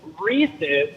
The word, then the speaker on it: Reese's: So, um I want to agree with Jim in that it's Reese's because it rhymes with pieces.